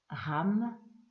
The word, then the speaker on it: RAM: Concentrez-vous sur un point particulier dans cette partie du corps, le nombril, pour la répétition du mantra associé qui est RAM, R-A-M, que l'on peut prononcer RAM.